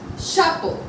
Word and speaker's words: chapeau: Here as you can see, CH is together, so we are going to sound it like sh, that is chaise. Chateau, chateau, chante, chante, chapeau, chapeau. So here I have given